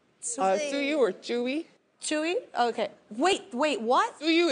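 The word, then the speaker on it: 츄: No, Suyu, how do you say it? In Korean, it's Chewy. Chewy? Yeah. How do you want me to say it? 어떻게 그 발음을 했으면 좋겠어요? Chewy. Oh, how you say it's adorable. That's right. Yeah, that is adorable. Okay, so Chewy.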